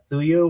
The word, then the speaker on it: thuya: The wood is actually thuya wood.